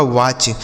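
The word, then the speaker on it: watch: रहा है ना दोस्तों डब्ल्यू ए टी सी एच डब्ल्यू से हो गया व ए से च की मात्रा टी सी एच को च पढ़ देना यह लिखा गया आपका वाच डब्ल्यू ए टी सी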